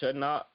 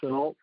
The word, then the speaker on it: Shenault: You know, he just got DJ Chalk and what's that, Shutnot? How you pronounce his name? Laviska Shenault.